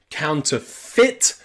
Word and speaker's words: counterfeit: it is sometimes possible so counterfeit that e and I is the I and Sovereign counterfeit and